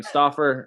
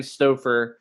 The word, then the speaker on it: Stoffer: probably thinking crazy man stauffer st stouffer so you said my name wrong last time so i can say your name wrong this time stoffer there you go um and we